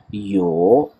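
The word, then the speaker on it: 有: यो, पहले आवाज़ डिप हो रही है, उसके बाद ऊपर की तरफ जा रही है। यो, आसानी से याद रखने के लिए यो हनी सिंह वाला यो जो है, इस प्रोनाउंसिएशन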